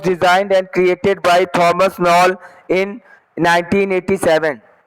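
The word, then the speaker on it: Knoll: Thomas नॉल, किनॉल, हाँ वही, एक ही साइलेंट होगा।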